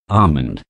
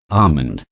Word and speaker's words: almond: comb number five almond the letter l does the dodging say this word thrice with me almond almond almond number six bomb the